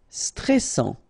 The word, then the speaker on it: stressant: Stressant. Okay, final tenor pronounce, and then A, N, en, stressant.